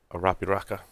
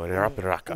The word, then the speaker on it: Arapiraca: Arapiraca. Right? You gotta roll your R's there, Joe. Arapiraca.